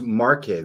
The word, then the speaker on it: Marche: I am listening because it is pronounced Marche though, right? It's M-A-R-C-H-E.